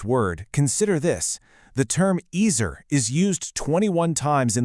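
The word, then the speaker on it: עזר: It's pronounced ezer, and while it's often translated as help, its real root implies something so much stronger.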